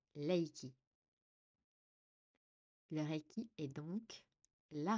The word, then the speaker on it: Reiki: signifie énergie vitale d'ailleurs en japonais Reiki ne se prononce pas avec le r il se prononce Laiki le requi est donc